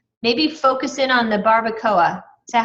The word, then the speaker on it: Barbacoa: know get specific maybe focus in on the Barbacoa is that how you pronounce it yes um isn't that barbecue H